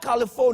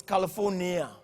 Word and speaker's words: California: you can even pronounce it's not colorful now it's California California today he says change the